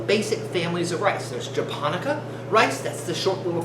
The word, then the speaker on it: Japonica: There's Japonica rice, that's the short little fat ones that make sushi rice. The way I remember is it sounds like Japan.